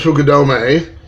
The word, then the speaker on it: Fukudome: play quite a while I'm sure Dubai remembers Fukudome good of his last name being kind of